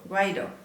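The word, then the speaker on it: Guaidó: Oh, Guaido.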